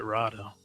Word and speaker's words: Rotta: I've heard I've heard the other uh Favro and uh and uh Fona, they've said Rada. Rada. Yeah, they pronounce it Rada. So, okay. I like Roa better.